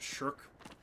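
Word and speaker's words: SSHRC: research Council of Canada it's very funny to me that that acronym is pronounced shirk because you know it means to not do work and uh for his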